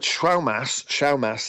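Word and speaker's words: Schaumasse: One of them, Comet Schaumass it's pronounced, is in the constellation of Virgo, but it's below what we call naked eye visibility.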